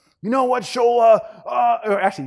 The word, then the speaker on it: Shola: I'm like, then finally his hand shot up, and he's like, you know what, Shola? Or actually, he mispronounced my name. You know what?